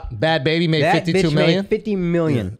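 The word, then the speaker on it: Bhad Bhabie: baby bad baby dude no bad like bobby without the r bad it's pronounced bad baby alex are you saying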